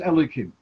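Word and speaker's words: Elokim: to another name of Hashem, so then it's pronounced as Elikim.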